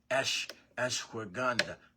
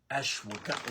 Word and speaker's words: ashwagandha: It has ashwagandha. Ashwagandha. Is how you say ashwagandha. Ashwagandha. If I'm saying it right.